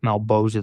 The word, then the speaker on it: Malebolgia: Malebolgian? I don't know. He pronounces his own shit weird. That's Todd McFarlane. Oh, so Malebolgia. That's it. Okay. Malebolgia. Yeah. The one that's spelled malebolgia.